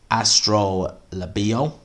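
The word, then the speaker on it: Astrolabio: sorry Vincent Malone is Vincent Astro libio I believe it's how you pronounce it our last I should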